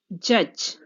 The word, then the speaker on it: judge: Judge. The silent letter is D.